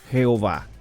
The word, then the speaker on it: Jehová: tetragramatón que es YHWH, lo que hicieron fue incluirle vocales intercaladas y las vocales que utilizaron fueron las del nombre en hebreo mi Señor, Adonai. Y entonces con las vocales de Adonai las intercalaron en YHWH y formaron un nombre que se pudiera pronunciar como Yahweh o Jehová.